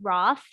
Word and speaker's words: Roth: So his last name could be spelled as Roth, as we would say in English today. But remember that H is silent, the one wasted letter.